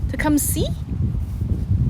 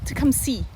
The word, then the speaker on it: Tecumseh: Tecumseh? I thought it was Tecumseh. Tecumseh. Tecumseh. Maybe it's Tecumseh, but this area is Tecumseh. No. Silent H.